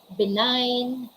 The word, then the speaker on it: benign: one of silent g the letter g is not pronounced when it comes before n in a word so